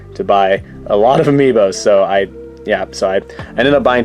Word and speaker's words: amiibo: Amiibo, whatever you want to say. I believe the technical correct way to say it is Amiibo, like plural. Like Amiibo is already plural. You don't have to say Amiibos, but I still do